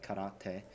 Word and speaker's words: karate: That's why they developed karate, or how you should pronounce it, karate.